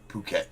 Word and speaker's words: Phuket: Okay, total transparency, it is pronounced Phuket. But what fun is that? Phuket, Thailand now.